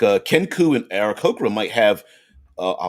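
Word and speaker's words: Aarakocra: uh ken coo and aaron cochran might have uh although i guess you could pronounce it uh arakokora anyway feather species like kenku and arikokra might have molting issues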